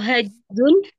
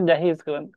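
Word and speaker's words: جاهز: Kalau hazun enggak yang benar jahiz.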